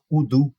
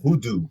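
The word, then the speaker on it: Hoodoo: haitiano nos Estados Unidos você tem udu que se escreve h o o d o o Ah então hudu é então assim é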